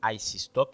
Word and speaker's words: Ayisee Stock: c'est i ok donc nous prononcer comme IC stock qui écrit a y